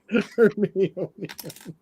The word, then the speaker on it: Hermione: Kevin, how do you pronounce her name? Her Heine? I was like, Hermione? Hermione? Hermione? Hermione.